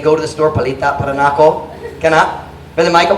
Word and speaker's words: palita: Palita.